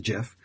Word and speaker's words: GIF: I love gifs again gif is pronounced with the J not a G it's not a gift it's a jiff and I love the